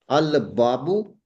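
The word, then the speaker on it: الباب: Al-babu, we will pronounce the lam.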